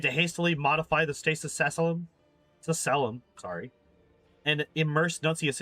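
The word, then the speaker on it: sacellum: Uh pronunciation. How do you say this? Sasselum.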